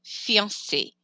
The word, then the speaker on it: fiancé: So think of fiancé, or think of the singer Beyonce. That E on the end gets pronounced. If you forget it, then that person would just be fiancé, and that's sad.